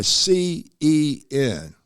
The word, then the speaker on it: CEN: My philosophy is defined by CEN. Sounds like sin, but it's spelled with a C, right?